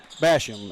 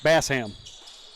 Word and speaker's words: Basham: Oh, and uh since the last time that Mountainberg and Hector played, I have been corrected as far as the pronunciation for Basham. It looks like it Bassam. Bassam.